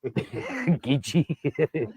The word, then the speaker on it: Geechee: It's actually spelled Geechee. It says Geechee. Gitchy. It's Gitchy. It's pronounced Gitchy.